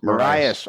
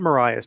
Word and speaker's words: Marias: No, it was Maria's Pass, Lionel. It's not Mariah's. Maria's. That's how you say it.